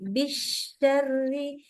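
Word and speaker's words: بِالشَّرِّ: Bisyari dari awal bunyinya udah shin. Bish bukan bisyar. Nah, jadi jangan berubah di tengah-tengah. Tapi dari awal sudah shin.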